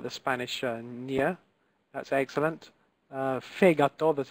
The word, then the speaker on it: fegato: Fegato. The accent here is on the first syllable, fegato.